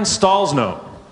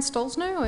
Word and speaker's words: Stollznow: Uh Karen Stallsno. Hi everyone. My name is Dr. Karen Stalsno and uh I'm a a linguist and a researcher and uh an investigator of paranormal and pseudocientific claims.